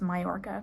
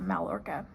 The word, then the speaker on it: Mallorca: It's Majorca, not Mallorca. So pardon me.